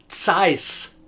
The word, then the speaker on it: Zeiss: And this is pronounced Carl Zeiss. Zeiss. You'll notice that there's a very unusual sound at the beginning of the word Zeiss, the name Zeiss, that seems unfamiliar at first, but there's a very